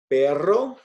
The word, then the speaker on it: perro: r right yep so uh repeat after me perro perro carro caro so this time around i'm